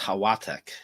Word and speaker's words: Halatek: Yeah, I believe it would be pronounced Hawatek. Yes, I was just going to say that. You took my thunder away, but God bless you for doing it, because as well as I do, the L is pronounced like a W in Poland.